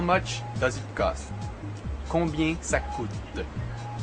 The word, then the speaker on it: combien: sound at the end sounding more or less like très bien, which you've heard me say often. Again, that sound is basically bien, so the French pronounce combien and très bien.